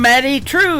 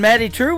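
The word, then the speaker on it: Maddye Trew: That is a brand new single from Maddie True. It is Maddye on her first name, and True is spelled Trew.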